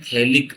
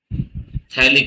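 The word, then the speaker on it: phthalic: तो इसको बोलते हैं थैलिक अम्ल थैलिक एसिड थैलिक एसिड ये भी पीए से स्टार्ट होता है तो पीएच टी एल आई सी [गला साफ़ करने की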